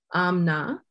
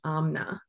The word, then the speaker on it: Amna: We often pronounce it in Pakistan, Amna. So sometimes we eat that I. I know in Arabic speaking communities, it's most often pronounced Amina. But in Pakistan, we both have Amina and Amna.